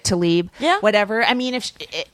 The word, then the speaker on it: Tlaib: Tlaib. Tlaib.